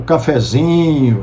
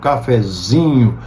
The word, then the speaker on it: cafezinho: Por exemplo, em palavras diminutivas, como cafezinho, chapeuzinho, veja, nessas palavras diminutivas, a sílaba tônica sempre vai para o in, de zin, né? Chapeuzinho, cafezinho. A sílaba tônica é lá no i, de zin.